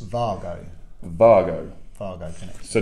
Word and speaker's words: Wago: do you want to explain why it is uh vargo and not way go because this michael lane